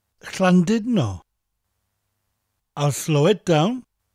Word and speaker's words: Llandudno: pronounce it as dud, Llandudno. That letter U in Welsh has an I sound, so it's Llandudno. Llandudno. I'll slow it down. Llandudno.